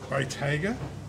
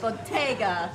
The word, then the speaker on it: Bottega: We have got Bottega Prosecco. Bottega is probably an Australian way of pronouncing it. It's not very Italian.